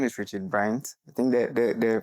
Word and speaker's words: Brandt: It's definitely And um, so my name is Richard Bryant. I think the the the pronunciation is Bryant. Brian. The D is silent.